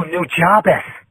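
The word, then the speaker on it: Nujabes: Oh, New Jabez. Yeah, okay. That's his name? That's the English pronunciation that I know.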